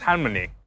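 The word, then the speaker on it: 할머니: In Korean "grandmother" is halmoni, but a lot of times when you're a little kid when you say it you can't pronounce the L.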